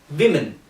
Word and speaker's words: women: you are looking at, the pronunciation of this word is woman. So it is woman. And the second is women. So woman and women. Woman and women. So it is like woo, man and we.